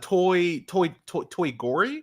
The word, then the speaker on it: Toy Gory: It's called Toy Gory is the opening. Yeah, Toy Gory. It's because it's supposed to rhyme with Toy Story.